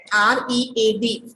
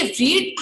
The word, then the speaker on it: read: तो Minnie read, R-E-A-D. तो देखिए read हम नहीं प्रोनाउंस करेंगे, हम इसको प्रोनाउंस करेंगे read. This is the second form of the verb.